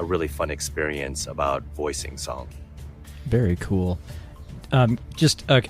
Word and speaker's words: Tseng: way yeah and it's very interesting because they pronounce his name song in the game it certainly looks like it's